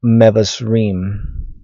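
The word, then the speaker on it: מבשרים: Now the word here is mevasrim.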